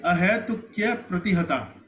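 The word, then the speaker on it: अहैतुक्यप्रतिहता: Actually, ahetukya pratihata. We don't need to speak a. Ahetukya apratihata will increase the number of matras.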